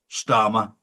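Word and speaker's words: Starmer: And of course, Starma rhymes with karma.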